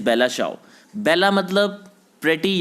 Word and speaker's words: Bella ciao: उसको हम चाओ जो उसको हम प्रोनाउंस कर रहे हैं दैट इज़ CIAO, शियाओ हम इसको बोल सकते हैं, लेकिन इसकी जो प्रोनाउंसिएशन है दैट इज़ बेला चाओ।